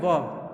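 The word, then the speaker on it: verb: यहाँ पे आप देखेंगे आर आपको साइलेंट लग रहा है, वर्ब। इसको वर्ब नहीं पढ़ेंगे, इसको पढ़ेंगे वर्ब पढ़ेंगे, वर्ब पढ़ेंगे।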